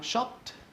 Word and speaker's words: shopped: Obviously we spell it with an S-H-O-P-P-E-D, but we don't say it with like an ED, okay? Shopped. We say it with a T, yeah. T, not a D and not an ID.